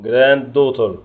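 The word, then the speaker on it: granddaughter: العم او ابن الخال، جراند دوتر حفيده، وعندنا الجي اتش لا تنطق، جراند دوتر.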